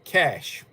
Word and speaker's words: cache: C A C H E pronounced cash. C A S H.